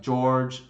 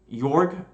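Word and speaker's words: Jörg: people I know like George, sorry, I'm gonna pronounce it correctly. Yorg, he goes by Aaron Relentless.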